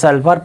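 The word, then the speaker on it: sulfur: د گولف په کلمه کې د ال حرف تلفظ شو. د سلفر په کلمه کې د ال حرف تلفظ شو.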